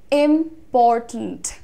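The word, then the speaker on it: important: आपको ध्यान देना, इसको इस तरीके से बोलना है, इम्पॉर्टेंट। अगेन साउंड ब्लेंडिंग है टिंट में, इम्पॉर्टेंट। ट और न देखो, टिंट, टिंट।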